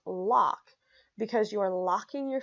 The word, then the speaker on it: LOC: wisdom here to serve you but LOC is pronounced LOC because you are locking your future in place